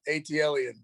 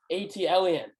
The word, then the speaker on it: ATL_EN: n or atlan on twitter oh hold on atlan atlan that's how you pronounce it yeah okay let's go so six